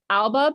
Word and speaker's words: Albaugh: Albaugh. I've said it wrong again. Albaugh? Albaugh. Yeah. Who? It's like Jessica Alba, but with a really angry tone at the end.